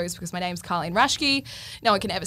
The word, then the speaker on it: Raschke: How do you say it? Raschke. Raschke. Very German, very Raschke.